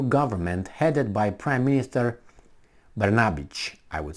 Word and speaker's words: Brnabić: Serbian parliament approves new government headed by Prime Minister Brnabić, I would say. That's how you probably pronounce it.